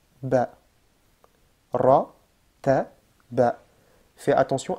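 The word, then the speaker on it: باء: Le ba, il est léger, qu'on a déjà vu.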